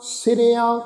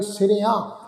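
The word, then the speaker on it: ਸਿਰਿਆਂ: सिरियां, ऐड़े नूं कन्ना उपर बिंदी लगा के उच्चारण करांगे सिरियां। ठीक है जी, इनू दूहा सिरिया इस ढंग नाल उच्चारण नहीं करना, बिंदी सहित उच्चारण करना वा।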